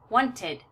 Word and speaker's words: wanted: the D sound it would be almost impossible for our mouths to make two t sounds at the end of the of the verb when they end with a D or a t so we want to use the D sound so fa F becomes in past tense when we add the E faded faded and want becomes with the Ed and past tense wanted and create becomes created